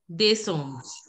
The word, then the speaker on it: décembre: See, here also the accent, here you can see here also the accent is on the right hand side, this way. So we are going to pronounce it as Décembre.